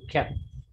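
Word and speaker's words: חית: It should come from throat.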